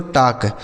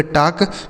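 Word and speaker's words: talk: इसे पढ़ा जाता है दोस्तों टॉक। टी ए एल के। इसे पढ़ेंगे टॉक।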